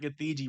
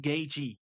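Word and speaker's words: Gaethje: People are like, "Bro, it's not Gathei, bro. It's pronounced Gachi."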